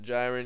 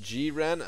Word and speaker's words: Jiren: He's from DBZ, but it's not Jiren. It's pronounced Jiren.